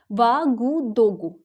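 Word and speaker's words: Ouagadougou: इसकी जो कैपिटल है इसको प्रोनाउंस करते हैं वागुदोगु, ठीक है, वागुदोगु।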